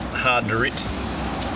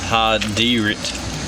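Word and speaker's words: Hardiritt: But if you come down here, there's an I in there. I used to call it Hard to Rit, but it actually is pronounced Hard D Rit.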